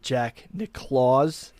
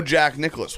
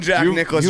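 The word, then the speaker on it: Jack Nicklaus: I almost pronounced it Jack Claus. Like Santa Claus. So you thought you cuz that's how it's spelled.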